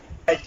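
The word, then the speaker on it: write: আর আই টি ই রাইট রাইট এই ক্ষেত্রে আর এর উচ্চারণ হয়েছে ডব্লিউ এর উচ্চারণ হয়নি একই রকম ভাবে ডব্লিউ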